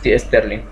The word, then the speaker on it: Stirling: parte automotriz jugamos sterling stirling se pronuncia sterling y ericsson para investigar